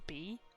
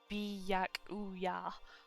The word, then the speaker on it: Byakuya: But wait, do I say bakua? Byaku. Jesus. Byakuya. I'm going to butcher these names.